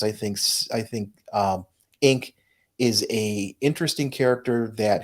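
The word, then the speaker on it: Inque: for the name inc it's spelled i-n-q-u-e and pronounced inc and i just think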